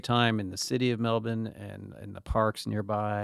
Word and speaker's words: Melbourne: Melbourne, what they say Melbourne. Oh, so Melbourne. There's not a lot of pronunciation of the R's in a lot of words. They just drop off Melbourne.